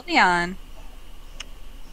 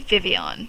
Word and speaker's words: Vivillon: Oh, Vivillon. I picked that one because I have trouble saying its name. I think it's Vivillon, which is really weird because it has L's in it, but...